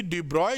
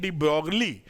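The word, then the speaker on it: de Broglie: हम जानते हैं कि डिब्रॉय जो वेवलेंथ लिखते हैं डिब्रॉगली, पढ़ते डिब्रॉय हैं, अंग्रेजों के नाम में यही लफड़ा रहता है।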